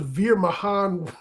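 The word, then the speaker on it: Veer Mahaan: So tonight, you realize that Veer Mahan rhymes with Beer and Mahonda?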